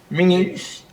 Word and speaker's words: Menzies: of course you realise your name should be pronounced Menzies."